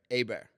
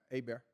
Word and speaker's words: Hebert: Ebert is that how e how do we pronounce it we AB bear a bear a bear AAR so we'll edit that part no edits needed we like that a bear so I've actually signed Huds with an r